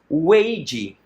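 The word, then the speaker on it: 危机: Há esse ideograma chinês que a pronúncia é Weiji.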